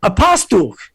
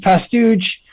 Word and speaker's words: Pastuch: the woman says oh apostle i said no it's actually pronounced pastouch and she goes no it's